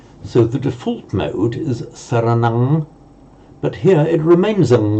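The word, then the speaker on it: saraṇaṃ: So to say, on its own, buddhang, saranang, at the time of the Buddha, and certainly it probably was pronounced, and in Sanskrit we know that it is pronounced as a buddham and a saranam. Now, what happens to that sound when another word follows? So at the end of a word group on its own, for Pali, pronounce it as an ang.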